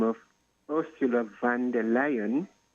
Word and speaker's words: Leyen: There's also an European commissioner by the name of Ursula von der Leyen. Leyen, it's Leyen, which can pronounce liar, but she's German.